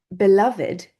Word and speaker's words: beloved: Then we also have beloved. Now, we should say beloved, which we can say, but when we're talking about beloved, we would actually pronounce it id, because we're talking about his beloved.